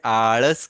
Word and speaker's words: आळस: ना, हम उसे जैसे कि हिंदी में हम इसे आलस कहेंगे, लेकिन मराठी में इसे आळस कहा जाता है। क्या कहेंगे बेटा? आळस। हाँ, और ये बीच वाला जो लेटर है ना, इसका जो प्रोनाउंसिएशन है वो ड़ है।